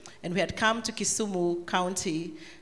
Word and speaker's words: Kisumu: Your Excellency, Governor of Kisumu, I'm told it's Kisumu, not Kisumu, so I shall pronounce it correctly.